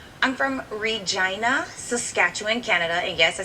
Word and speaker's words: Regina: where where you from this F I'm from Regina Saskatchewan Canada and yes I said it right